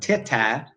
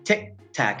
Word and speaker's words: tic-tac: Now, again, it's not silent, it's not "ti-ta", it's "tic-tac". It's that really sudden stop.